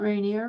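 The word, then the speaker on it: Rainier: let me see I looked up Mount rineer which is how we pronounce it when you're from here by the way R there yeah I see it got it okay um Jane Krit said reneer we don't like that um so Mount rineer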